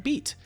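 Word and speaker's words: Bede: and it looks like it's pronounced like beat like the vegetable i'm lost well anyways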